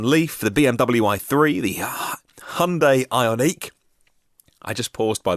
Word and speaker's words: Hyundai: this is a massive sidebar apologies we say hi Hyundai and I that pretty much the way that it's pronounced in most parts of the world is